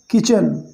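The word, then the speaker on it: kitchen: तो रैन यानी दौड़ी या भागी, टू द किचन, किचन की ओर, किचन, ठीक है, यहाँ पर टी साइलेंट है, किचन नहीं, किचन।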